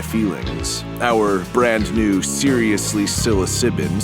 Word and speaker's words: psilocybin: our brand new seriously psilocybin seriously spelled with a P mega ether dark mega